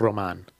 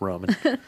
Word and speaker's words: Roman: Actually, it's pronounced Roman. If you will. White we need people, Mama to come in here. White people don't get it, so it's Roman. I can't roll the tongue, so sorry.